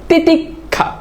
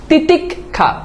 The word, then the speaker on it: তিতিক্ষা: এখন এই যে বললাম এই তিতিক্ষাতে এই যে খিয়টা আছে না এই খিয়টা আমরা একটু খেয়াল করে দেখি তো উচ্চারণ কি হচ্ছে তিতিক্ষা দেখো এই যে ক হচ্ছে এরপর দেখো খ হচ্ছে তিতিক খা ক হচ্ছে তারপর দেখো